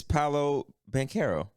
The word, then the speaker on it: Paolo Banchero: I think it's Paolo. It's Paolo, right? I actually have to look this up, man, because I have trouble pronouncing his damn name. Give me 1 second. Yeah, it's Paolo Banchero.